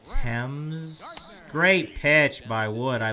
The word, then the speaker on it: Thames: called the Thames and spelled the exact same way but it's pronounced Thames great pitch by would